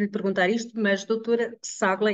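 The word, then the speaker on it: Çağla: Eu tenho imensa vergonha de lhe perguntar isto, mas doutora Ságua, é assim que se Isso mesmo. pronuncia o seu nome? Sim, E pronto, se não perguntarmos, nunca sabemos, não é? Pronto, a doutora exatamente. Ságua é nutricionista, acedeu a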